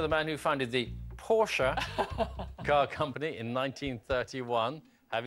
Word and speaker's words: Porsche: just arminer left from the think tank to ask you know this armor now well first of all it should be pronounced Porsche because he's German so I'm going to